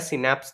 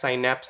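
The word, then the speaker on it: synapse: Axon उनको क्या करता है, सिनैप्स तक ले जाता है इसको। सिनैप्स, साइनैप्स, आप कुछ भी प्रोनाउंस कर सकते हो अपने अकॉर्डिंग, ठीक है।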